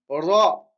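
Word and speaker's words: راء: La lettre suivante, ra. Ici, il faut rouler le R. Faut rouler le R. Ra.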